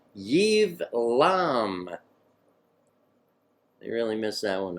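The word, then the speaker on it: Ibleam: and their villages bathe shane bathe Shia gardening Eve LOM that we hit that one there they spell it a bleem but it's pronounced Eve LOM they really miss that one up door endured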